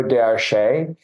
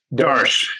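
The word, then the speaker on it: Château d'Arche: The next one would be this 1990 Chateau d'Arche. Started at $30, 6 bids, took it at $64 for 113.33% increase. Is it d'Arche? D'Arche. Yeah, just d'Arche, just one syllable.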